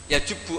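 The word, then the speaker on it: يَجُبُّ: Itu bacanya bukan yajibu tapi apa? Yajubbu ayaktau.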